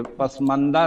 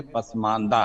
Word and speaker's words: पसमानदा: तो प्रधानमंत्री जी कह रहे हैं कि पसमानदा, ये पसमंदा नहीं है, पसमानदा है.